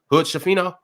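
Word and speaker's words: Hood-Schifino: with who's at the end of the bench Hood shafin that's how you say his name Aquafina that's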